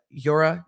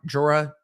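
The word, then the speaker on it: Jura: it is a uh Yura Jora J R A depending on how you want to pronounce that and it Bru iced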